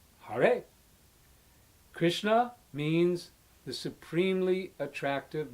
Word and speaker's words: Hare: It's pronounced Hare.